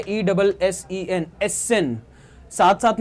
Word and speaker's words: Essen: ठीक है, ESSEN, एसेन। साथ साथ में आप प्रोनाउंस करते चलो एसेन, और इन सारी चीजों को लिखते भी चलो एसेन।